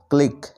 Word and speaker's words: clique: তারপর সবশেষে দেখো CLIQUE, ক্লিক এর অর্থ হলো চক্র। এই শব্দগুলি শেষে QUE থাকায় QUE এর উচ্চারণ আমরা ক এর মতো পাচ্ছি।